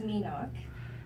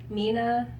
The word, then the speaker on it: My Ngoc: It's My Ngoc, and it's spelled M-Y-N-G-O-C. Don't worry, you never would have guessed that. So, because of how it's spelled, people have called me all sorts of things like My Ngoc, My Ngoc, Mina.